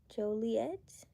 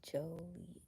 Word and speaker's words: Joliet: So it's three syllables. Juliet. Joliet. It's Joliet.